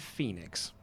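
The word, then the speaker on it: Fenix: Is it Phoenix or is it Phoenix? I would say Phoenix, but it's spelled F-E-N-I-X. Yeah, I'd say that's Phoenix.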